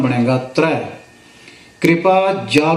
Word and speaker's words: त्र: दुलावा रारा करना ल तथा मुक्ता हो जाएगा उच्चारण बनेगा त्र कृपा जाल दे नानक सारंग क होई जाते